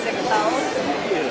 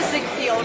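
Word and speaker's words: Ziegfeld: Just wanted to say welcome to Ziggfeld, and also send a friendly reminder of how to pronounce it, because we're hoping you'll Ziggfeld. Ziggfeld, yes. We hear Ziggfield a lot. I've heard Ziggfeld. Yeah, Really bad.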